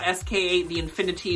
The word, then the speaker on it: Sk8 the Infinity: I don't have much to say about Sk8 The Infinity, which is how it's pronounced in Japan.